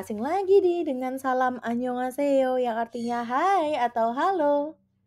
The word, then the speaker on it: 안녕하세요: iya ke dalam kata annyeonghaseyo sehingga menjadi ne annyeonghaseyo atau ye annyeonghaseyo. Yuk kita latihan.